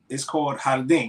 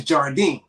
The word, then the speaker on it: jardín: the word is called jardín, right? Jardín is garden. Mm-hmm. But they spell it. It's spelled with a J, right? But she was saying it's Jardine because she was saying it's a J.